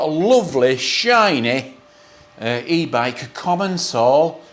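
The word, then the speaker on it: Commencal: lovely shiny uh e-bike common Soul or commensal or however you want to pronounce it I pronounce it comments all it's a lovely bike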